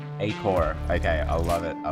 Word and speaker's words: Acoer: Yeah, we'll pronounce it Acoer. Acoer.